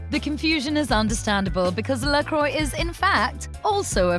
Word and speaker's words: LaCroix: The name is a combination of two important elements of LaCroix's original story.